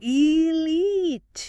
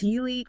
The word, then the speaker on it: elite: It must be stressed on the second syllable. Elite. Elite. If you stress the first syllable, it just sounds less formal, less precise, and we're looking for precision in this kind of high-stakes vocabulary.